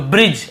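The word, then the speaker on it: bridge: हम जे पढ़ते हैं ज्यादातर ठीक है तो ब्रिज ऐसे पढ़ रहे हैं यहां पर देखिए आगे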